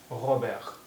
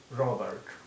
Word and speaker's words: Robert: is pronounced like so and here t is silent so it will be pronounced as ahabek if you pronounce it as we do it in english it will be pronounced as robert if you are pronouncing